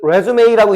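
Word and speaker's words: résumé: 그 레즈메이라고 읽는 거고 얘 이력서다.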